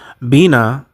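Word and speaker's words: בינה: And the number 999 in Hebrew means it's it's pronounced uh bina and it means understanding insight discernment means to understand or to or to discern.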